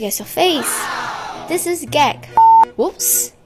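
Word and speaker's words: gấc: This is gag. Whoops. It's pronounced as...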